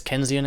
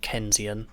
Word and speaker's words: Keynesian: it there's keynesian economics i know i'm pronouncing that name wrong because that's a guy's name and i know it's not kenzian it's not it's keens isn't his keynesian because it's mr keane's i think that's all